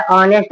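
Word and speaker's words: honest: बट ये एक silent होता है। ओ से पढ़ा जाता है। ऑनेस्ट पढ़ते हैं।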